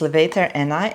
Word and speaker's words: levator ani: I can never say it properly from the first time, but so it's levator ani.